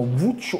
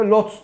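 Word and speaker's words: Łódź: Abi dedi o Lodz yazılıyor ama Vuc okunuyordu. Hayda. Nasıl yani dedim. Abi işte şurada inceltme olursa, burada bu sunlardan gelirse bu altta. Ben de Hull City maçında yayında Lodz dedim işte.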